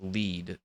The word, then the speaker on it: Lied: Wrong pronunciation of lied. It's more like lead.